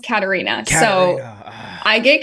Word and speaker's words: Catarina: because okay we'll introduce myself um it's actually pronounced Katarina so I get Katrina a lot um caddy like people think it's